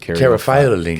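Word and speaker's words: caryophyllene: I think one that rounds it out is the I pronounce it Cariophyllene. Cariophyllene.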